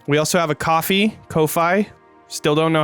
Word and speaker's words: Ko-fi: also have a coffee kofi still don't know how to say it we're gonna come no we're locking it in right now it's ko-fi it's pronounced coffee coffee all right we have